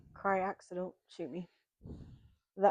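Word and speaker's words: craic: So, then we have I think it's pronounced kryak, so don't shoot me.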